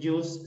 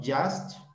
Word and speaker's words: just: Solamente este no es just, sino just. ¿Listo? Esta U se pronuncia just.